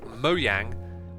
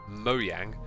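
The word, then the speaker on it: Mojang: feels like minecraft minecraft' mo yang the developers okay that's how you save the name of their company by the way mo yang not everything is said the way it's spelt out on a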